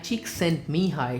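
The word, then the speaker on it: Csikszentmihalyi: energy which the author mihi cheek sent mihi shares in his book flow by the way this is how you correctly pronounce his name and I highly recommend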